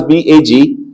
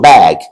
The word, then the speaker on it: bag: Did you hear how I pronounce B-A-G? It's the same thing. A as the only vowel sound. So bag, bag.